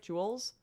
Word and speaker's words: joules: than 10 000 joules am i pronouncing that right jules yep you are okay a bore of